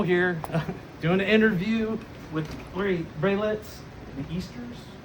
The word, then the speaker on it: Braylit: Doing an interview with Braylits, the Easters.